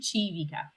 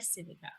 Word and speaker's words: Civica: Looks like Civica, but it's pronounced Civica. Civica. It's Italiano.